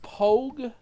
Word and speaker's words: POG: center tip 690 first pog is pronounced pogue and military parlance and two and second